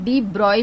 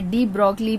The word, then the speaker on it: de Broglie: ये इसका pronunciation डी ब्रॉय भी होता है, पर डी ब्रॉगली भी अगर प्रोनाउंस करे तो एक्सेप्टेबल है।